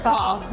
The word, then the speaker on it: pho: This is called pho. Yeah. Am I saying it right? It is pho. Okay. Yeah, pho.